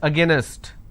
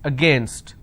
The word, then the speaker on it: against: Don't pronounce this as against, it's against.